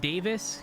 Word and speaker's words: Davies: Okay, so that's Ian Doyle, Basley, um, uh, Bernie or Bernard Davies, but it's pronounced Davis.